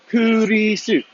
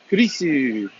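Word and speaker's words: クリス: So like my name, there's no S ending. It's Chrisu, Kurisu, Kurisu. Simply because their alphabet, the way their letters are pronounced, my name becomes Kurisu.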